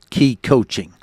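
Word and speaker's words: Ki Coaching: This idea is coming from an upcoming book called Key Coaching, spelled K-I, but pronounced K-E-Y, that should be out for Christmas 2026.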